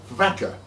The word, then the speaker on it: Waka: Waka in those days I would imagine that it was probably pronounced vaka and became known as